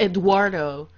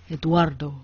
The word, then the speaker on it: Eduardo: It's not Eduardo. It's Eduardo from Mexico.